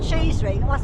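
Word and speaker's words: Cheesewring: of them I mean it sounds like cheese ring it's not cheese you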